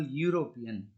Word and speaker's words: European: is not pronounced okay instead y u is pronounced at the beginning of the word european why you are being